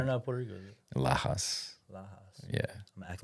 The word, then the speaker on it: Lajas: But I it's knew it had a J in it. There, yeah, because there's an H sound in it. it's Doing like the Lajas. it's like Lajas. you know where Lajas is?